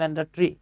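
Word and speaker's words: mandatory: পাবেন এম দিয়ে পাবেন ম্যান্ডেটরি লেখার সময় আমরা লিখি ম্যান্ডেট থরি উচ্চারণ হয় ম্যান্ডেটরি আচ্ছা তারপরে দেখেন এখানে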